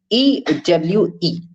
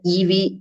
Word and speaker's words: ewe: But on the basis of phonetic symbols, I came to know that it was written U, right? And the same pronunciation stands for YOU. So pronunciation of EWE and YOU is the same.